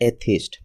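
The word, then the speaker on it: atheist: पांचवा वा वर्ड है एथिस्ट। इसका प्रोनंसिएशन देख सकते हैं। ए यह स्ट्रेस के साथ थीस्ट स्मूथली अनएक्सेंट वे में।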